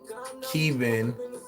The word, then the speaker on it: Keven: was my main character, his name is, uh, Keven. Keven doc, but it's like spelled like Kevin, but in the Caribbean we say Keven, so it's like ke e apostrophe v i n.